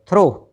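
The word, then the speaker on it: through: टी एच ओ यू जी एच दो और थ्रो टी एच आर ओ यू जी एच थ्रू ठीक है अब जरा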